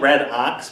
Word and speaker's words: redox: I know it's spelled like red ox, but it's pronounced redox.